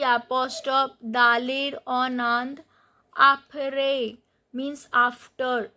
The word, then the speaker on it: après: Apre means after. So these accent grave on E and the pronunciation is apre low back.